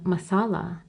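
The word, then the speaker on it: Messala: and how the people gradually corrupted the pronunciation and called him Masala.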